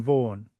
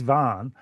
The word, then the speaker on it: Vaughan: My friend Robert Vaughan Young, I used to say his name Vaughan, and he used to say my name. And it was a year or two before I realized we need to reverse this. He's Van and